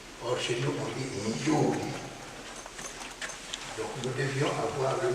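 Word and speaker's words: Youdi: Aujourd'hui, je m'appelle Yudi, le Y-O-U-D-I. Au lieu de N-Y-I, parce qu'il disait toujours Yudi, ou bien N-Yudi. Or, chez nous, on dit Yudi.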